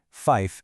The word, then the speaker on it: fife: Use the special pronunciations tree, fife, and niner.